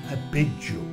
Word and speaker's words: Abydos: Abydos se prononce en hiéroglyphe Abidjo.